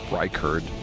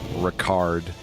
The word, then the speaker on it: Ricard: I think it's pronounced Reichard. Ricard, right? Reichard.